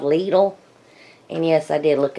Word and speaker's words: Lidl: store that opened up near us it's called Lidl and yes I did look up the pronunciation and that's how you say it it's